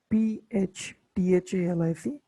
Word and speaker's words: phthalic: okay see the pronunciation p-h-t-h-a-l-i-c it's name it is phthalic acid okay ph it is silent okay in which also